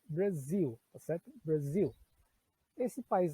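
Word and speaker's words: Brazil: Então, em vez de eu falar Brasil, que nós falamos em português, a pronúncia em inglês é Brasil, tá certo?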